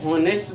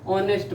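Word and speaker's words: honest: तो हम लोग क्या करते हैं, इसको हॉनेस्ट तो नहीं ना पढ़ते हैं, इसको क्या पढ़ते हैं हम लोग, ऑनेस्ट पढ़ते हैं।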